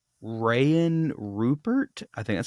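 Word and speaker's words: Rayan Rupert: going to go with um sorry uh right Ryan Rupert I think that's how you say his name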